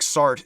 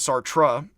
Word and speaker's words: Sartre: You don't pronounce the D on the end. Again, it's like Sartre instead of Sartre.